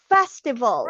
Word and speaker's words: festival: It has 3 syllables.